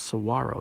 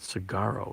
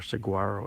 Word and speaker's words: saguaro: all these tomorrows and it's pronounced Saguaro not cigarro with some that are Saguaro as people say the G is silent good at least the